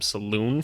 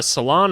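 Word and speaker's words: Salaün: comments so thank you I was calling him Saloon for forever so that's just great but uh yeah uh Salon over here uh one of the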